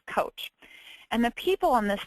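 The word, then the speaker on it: Kocs: So it's spelled K-O-C but pronounced coach.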